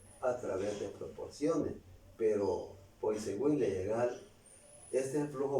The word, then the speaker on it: Poiseuille: Poiseuille, dicen los franceses. Poiseuille podemos leer nosotros, porque el español se pronuncia tal como se escribe.